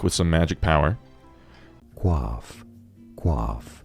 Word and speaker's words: coiffe: Coiffe is how you say it. From French, it is coiffe.